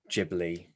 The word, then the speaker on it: Ghibli: And it's definitely Jibli and not Gibli, right?